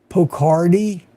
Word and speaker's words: Pocardi: Poco like with a K. Addie pronounced like Ardy. Pocardi. Pocardi. Hope that helps.